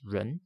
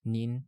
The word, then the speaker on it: 人: This becomes ren in Chinese, nin and jin in Japanese, and in Korean.